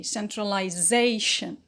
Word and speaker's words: centralization: syllable before it so the primary stress is on zay centralization but here we have